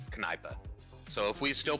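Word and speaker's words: Kneipe: the German words is spelled k-n-e-i-p-e and it's pronounced kanipa so if we still pronounced K's we would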